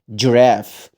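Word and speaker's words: giraffe: لكن هنا حرف الجي لما يجي وراه اي او اي او واي بنطقه ج. خد بالك ما اسمهاش ج، لا الج حط دي خفيفه كده، فبقول جراف، جراف، جراف.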